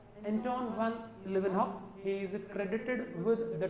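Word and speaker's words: Antonie van Leeuwenhoek: तो पहली बार living cells को देखने का, डिस्कवर करने का जो श्रेय जाता है वो जाता है एंटोन वान लिवेनहॉक। स्पेलिंग पे गौर करना, एंटोन ए कैपिटल वी स्मॉल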